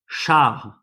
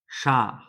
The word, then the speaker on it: char: But sometimes when it's linked to another letter, such as here, it's linked to H, the pronunciation will change. So here we have the word char, un char. Un char is the Quebecese word for car, a vehicle. Un char. C, char, char.